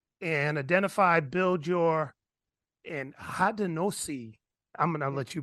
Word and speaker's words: Haudenosaunee: So Haudenosaunee is how I pronounce it. But you know, someone, original person, might correct me on that.